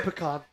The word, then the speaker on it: pecan: Or how do you pronounce it? Pecan or I usually say pecan.